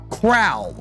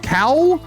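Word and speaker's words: cowl: it's called Batman's crown am I am I mispronouncing it Batman crowd yeah yeah crowl c-o-w-l oh there's no all there's no R in this word there's no R in this word okay so is it just cow I don't know how to pronounce that it is it is cow there's no r in it I was just making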